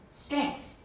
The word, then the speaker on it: strength: Lend length, send strength. Go ahead. Lend length, send strength. Strength.If you put the K in there, your pronunciation will be right on the nose, okay?